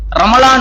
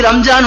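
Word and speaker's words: رمضان: நாம் பேர் வைக்கலாம் ஆனால் உண்மையிலேயே ரமலான் என்பது ரா மீம் லாது அலிஃப் நூன் இதுதான் சரியான ஒரு உச்சரிப்பு அப்புறம் எப்படி மறுவி இப்படி ரம்ஜான் வந்துச்சு அப்படின்னா உருதுக்காரர்களின் உடைய ஆதிக்கத்தினால் தான் இப்படி ரம்ஜான் மாறுனது தமிழ் பல மக்களுக்கும் தெரியும் பொதுவா உருது பேசுறவங்களுக்கு இருக்கக்கூடிய ஒரு இது என்னன்னா அவர்களுக்கு இந்த லா சரியா உச்சரிக்க வராது லாது எங்கெல்லாம் வருதோ அங்கெல்லாம் ஜா போட்டு சொல்லிடுவாங்க இப்ப இருக்குல்ல இதை ஒரு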